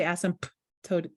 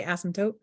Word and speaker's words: asymptote: to actually spell it because that p is silent right you don't say asymptote right you just say asymptote so my brain uses